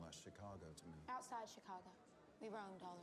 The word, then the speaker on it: Chicago: Outside Chicago, we roamed all It's around. the emphasis on the second syllable. Borrowed from the French.